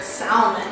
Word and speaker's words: salmon: Some people say salmon or salmon. When I hear salmon, I think of like salmonella. I used to say that, salmon. and then someone was like, the L is silent. Okay, so we say that one normal.